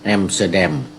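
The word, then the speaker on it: อัมสเตอร์ดัม: เขา พูด ให้ ฟัง ออก เสียง เป็น แอมstเตอร์แดม แอมสเตอร์แดม เ นี่ ก็ คือ เอ่อ ประเทศ เนเธอร์แลนด์ หรือ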